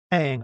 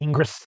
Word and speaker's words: Ingres: the Romantic ideology that Eng was. And by the way, I know it's spelled, it looks like it should be Ingres. It's French, so his last name is Eng.